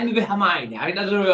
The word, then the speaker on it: Hermione: Harmony. And then the film comes out, and you're like, oh, it's Hermione, is it?